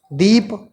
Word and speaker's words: दीपः: जैसे दीप, अभी इसको हम पढ़ रहे हैं दीप, लेकिन जैसे ही इसके साथ हमने 2 विसर्ग जोड़ दिया, अब इसका उच्चारण कैसे करेंगे, बोलेंगे कैसे? दीपः।